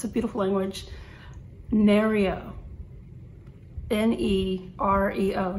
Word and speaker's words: Nereo: Nereo. N-E-R-E-O, Nereo.